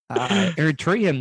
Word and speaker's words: Eritrean: How do you pronounce it for it again? Tyrion. It was, I know. Eritrean.